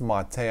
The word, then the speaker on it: MATE: system integrating the mate desktop or mate it's pronounced mate I know a couple subscribers says I was